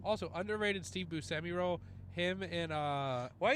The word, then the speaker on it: Buscemi: Yeah, dude, he's Cyrus the Virus, and then whatever Steve Buscemi's character is.